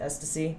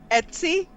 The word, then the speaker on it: Etsy: how you pronounce it s to c it's etsy etsy i don't know man